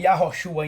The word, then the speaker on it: Yahoshua: Aqui nós temos o nome Yahroxua em hebraico. E aqui nós temos a transliteração em português. Sabendo de acordo com a a letra, o H não é mudo. O H pronuncia-se dois Rs.